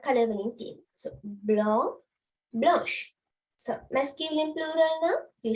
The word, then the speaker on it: blanche: So blonde, blanche, blonde, blanche. The sh sound is there.